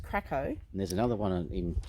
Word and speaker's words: Cracow: this place is called Krakow it is spelled c-r-a-c-o-w but it's pronounced Krakow and there's another one